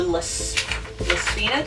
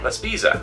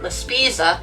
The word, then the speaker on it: La Spezia: So he said we were going to go to La Spina, did I say it right? La Spezia. La Spezia.